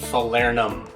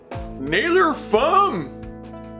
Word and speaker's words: Falernum: You mean unlike your pronunciation of Falernum? Nailer fum, No. folder nam, Still no. feeler num num num. No. Faller ham, No. mailer flom, No. flan tres leches. You somehow made it worse.